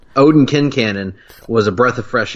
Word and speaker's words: Quincannon: by the way, you and I had been pronouncing it Quincannon for the entirety of our friendship until the show came along and informed us we were idiots.